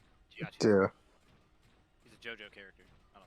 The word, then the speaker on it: Giacchino: I think that's how you pronounce his last name. Giacchino.